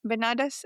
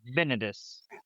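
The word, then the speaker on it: Binadas: How do you say his name? Benadas is how I was saying it, but yeah, Benedus. Benedus. That's how I say it.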